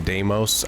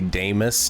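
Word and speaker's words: Damas: somebody was correcting me cuz I call him damos I think it sounds better but it is technically damus d m a and somebody was like you're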